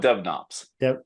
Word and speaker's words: dev-nops: no Ops or Dev knops I call it Dev knobs so it's d-e-v d as in dog he